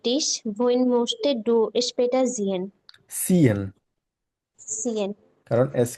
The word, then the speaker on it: sehen: bringt er den Tisch, wohin möchtest du später sehen? সিএন, Sehen. কারণ এস কে সেটের মতো আর সেট কেসের মতো উচ্চারণ করি আমরা।